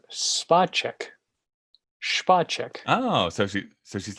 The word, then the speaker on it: Spacek: So jumping into it and actually uncovering what the story beats are, and me being like, oh, Sissy Spacek's in this.